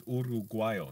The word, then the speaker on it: Uruguayo: But in Spanish, it's Uruguayo, not Uruguayo. Uru. It's U-R-U, and the U is phonetic in Spanish, so it's pronounced the same way every time.